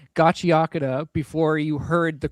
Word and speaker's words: Gachiakuta: I was like, Gachiakuta. Technically Gachiakuta, because ku in Japanese can be just k, depending on how fast it flows by, but like I don't know.